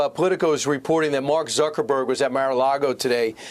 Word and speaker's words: Zuckerberg: Reform movement even Mark zabek Mark Zuckerberg that's how you pronounce his name Mark Zuckerberg he is